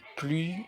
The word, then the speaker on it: plus: Plus de, regardez ici, on n'a pas prononcé le S, qui est une consonne et qui est de même une lettre muette de 11 000 espèces.